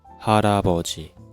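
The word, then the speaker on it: 할아버지: So, harabeoji have four syllable. And this is batchim. And next syllable starts with ieung. So, we speak ha ra bo ji.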